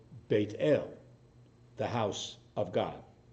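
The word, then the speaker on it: בית אל: particular place it's called bait ale the house of God pronounced in our in our slang as Bethel but it's bait Ale in Hebrew sacred spaces in Jewish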